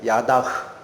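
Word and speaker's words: ידה: 히브리어로 야다라고 읽히는 나. 야다흐.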